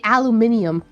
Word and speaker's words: aluminium: At least I don't have to say aluminium. It's the same thing, but all y'all had to add more syllables.